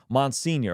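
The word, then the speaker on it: monsignor: it whatever you know mon senior okay that's how you say it man senior Jamie okay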